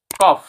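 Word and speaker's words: cough: for example কফ কফ সি ও ইউ জি এইচ কফ কফিং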